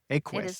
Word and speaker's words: Equus: Equus.